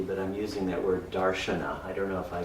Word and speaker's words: darshana: of darshan I mean the Sanskrit pronunciation makes it darshana in the Indian languages it is the very same word as darshan also I'm using it